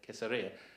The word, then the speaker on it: Caesarea: When you go to Israel, you start to find out the ways that they pronounce it, which we don't. So they would say Caesarea. Caesarea. See, I can't even say it right. Because they'd say Caesarea. We're like, Caesarea? What's that? And we're sort of saying Caesarea, see? That's completely different.